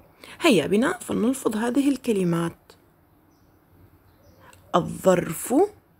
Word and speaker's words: الظرف: أحسنتم، إنها لام شمسية، تكتب ولا تلفظ. لاحظوا الكلمات مرة أخرى، الظرف لم نلفظ اللام، الظلام لم نلفظ اللام، الظبي لم نلفظ اللام.